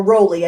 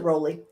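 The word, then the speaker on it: Rollie: name is raleigh yep r-o-l-l-i-e or rowley i suppose you pronounce it rolly rolly so i'm gonna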